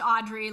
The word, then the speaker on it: Audriix: spelled a-u-d-r-i-i-x yeah so it's a silent x double i so it's pronounced audrey like audrey hepburn but a-u-d-r-i-i-x and so